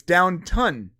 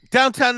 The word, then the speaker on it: Downton: It's Downton. Whatever. Right, but we have like 125 comments about the mispronunciation of Downton Abbey. Downtown Abbey.